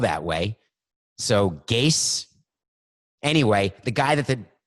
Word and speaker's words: Gase: I thought it was Adam Gaze, as in I'm gazing into the future. But I'm hearing that it's Adam Gase that rhymes with case, and it's spelled that way. So Gase.